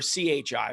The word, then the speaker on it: Qi: Qi is Qi or Chi, but we spell it Qi as Qi, like the energy.